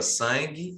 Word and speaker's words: sangue: E o sangue você não consegue, ó, sangue.